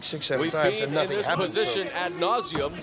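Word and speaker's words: ad nauseam: seven times nothing position ad nauseum with emphasis on the first part of that second word and right now this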